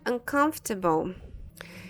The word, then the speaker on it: uncomfortable: And uncomfortable. Nós já falamos sobre essa palavra em algum outro vídeo. Ela é uma palavra que confunde muito, né? Uncomfortable. Uncomfortable. A gente não vai pronunciar esse OR aqui, tá?